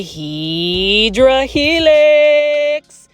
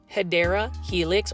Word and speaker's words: Hedera helix: This is a Hydra Helix. I haven't said that in a while. Say it with me, plant foldies. 1, 2, 3. Hydra Helix. Or the correct way to say it is Hedera Helix, or what you would call the English ivy.